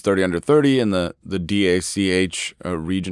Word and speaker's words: DACH: But you also won some awards, like you got Forbes 30 under 30 in the DACH region. How do you pronounce that, by the way, the DACH region? we say Dach, yeah, but in the DACH, German-speaking area of Europe.